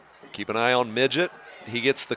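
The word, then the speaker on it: Midgyett: Midget, spelled M-I-D-G-Y-E-T-T. And I pronounce it the same way you do, but I'm wondering if there's another way. Well, I started off that way, but then we checked, and it is Midget.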